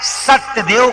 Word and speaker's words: सत्यदेव: शुद्ध उच्चारण है सत्यदेव का पूजन किया।